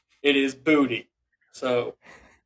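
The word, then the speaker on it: Boutte: So, he's the New England Patriots receiver has confirmed the last name is pronounced phonetically as Booty. So, apologize. It is not Bouty. It is Booty.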